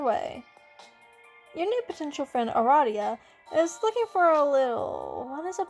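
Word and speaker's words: Aradia: It is pronounced Ah-RAH-dia. That makes sense, although you just might cannot fathom her name being pronounced any other way. Your new potential friend Ah-RAH-dia is looking for a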